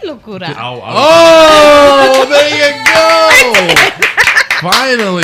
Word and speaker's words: Locura: I said Locura.